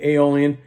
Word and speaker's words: Aeolian: If there's one thing I want you to kind of know is that the Aeolian, or to pronounce Aeolian, Aeolian, that's the minor.